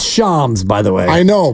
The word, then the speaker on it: Shams: play again for you the Sham chirania Miss pronouncing Brandon pamy it's Shams by the way I know but I'm doing